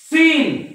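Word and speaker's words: scene: सी म्हणजेच Saint accent सीन बघा सीन एस इ एन सीन muscles muscles म्हणजे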